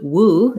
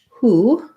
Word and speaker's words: who: For the word who, instead of going to woo, it went to who. So we just have the H sound in who. Again, most of you pronounce this correctly. And letter O here says the oo vowel. So the IPA would be like this, who.